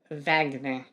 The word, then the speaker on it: Wagner: Pronounced like Vagner.